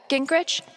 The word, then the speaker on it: Grich: Steph uh Grich, is that how you say it? Yeah, that's right.